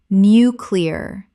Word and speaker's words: nuclear: Nuclear. Three syllables.